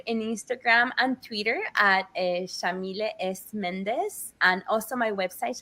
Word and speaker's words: Yamile: So, Shamille is an Arabic name pronounced with an Argentine accent. We say the Y like an SH.